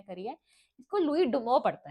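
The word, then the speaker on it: Louis Dumont: सीओ टी लुई इसको लुईस डुमो मतलब pronunciation में आ रही है। आपको जैसे प्रोनाउंस करना है करिए। इसको लुई डुमो पढ़ते हैं।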